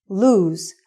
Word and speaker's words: lose: Also, the pronunciation is lose and not loose.